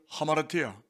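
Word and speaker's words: ἁμαρτία: 헬라 원전에 보면 허물과 죄를 하마르티아, 알파라고 써 있으니까 아라고 읽지 않고 위에 부호가 있잖아요. 하를 읽습니다.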